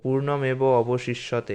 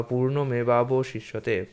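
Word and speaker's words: পূর্ণমেবাবশিষ্যতে: পূর্ণস্য পূর্ণমাদায় পূর্ণমেবাব শিষ্যতে সংস্কৃত মন্ত্র যদি আপনাদের উচ্চারণ করতে কঠিন হয় তাহলে এভাবে উচ্চারণ করবেন যেমন পূর্ণমেবাব শিষ্যতে এটাকে ভালো করে একটু ভেঙে দেখুন এটা হচ্ছে পূর্ণম এব অবশিষ্ষ্যতে তো আপনি যদি উচ্চারণ করতে না পারেন তাহলে পূর্ণমেব অবশিষ্ষ্যতে এভাবে বলতে পারেন বা পূর্ণমেবাবশিষতে পূর্ণম উদাচ্ছতে পূর্ণম উদাচ্ছতে পূর্ণম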